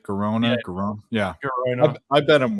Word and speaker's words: Girona: It's spelled Girona, right? Girona.